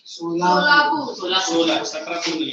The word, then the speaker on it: Solapur: How do you pronounce? Solapur.